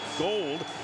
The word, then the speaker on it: Gould: And speaking of kickers, Robbie Gould will be kicking off for the Chicago Bears, and that is the way it's pronounced, G-O-U-L-D, pronounced Gold.